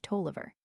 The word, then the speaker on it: Taliaferro: /Buchanan/ /Bohannon/ /Drury/ /Droit /Enroddy/ Darby and /Taliaferro/ Tolliver. The English /Crowninshields pronounce every syllable of their name.